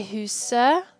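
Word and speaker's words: huset: noun now remember that for neutral defined nouns the t is silent so we say who's sir and not so it's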